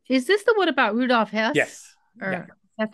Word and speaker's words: Rudolf Hess: So is this the one about Rudolf Hess?